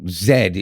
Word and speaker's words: Zed: without the English accent so Zed is how it said so that's why when